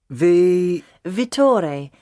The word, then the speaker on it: Vittore: Ah, what was that again? Vittore.